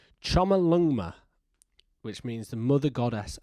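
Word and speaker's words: Chomolungma: It's, let me get this pronunciation right. It's Chama Lungma, which means the mother goddess of the world.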